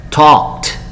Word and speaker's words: talked: Y ese sufijo ed, imaginémonos que sea la T. ¿Cómo pronunciarías, Jeremy? El pasado. Talked.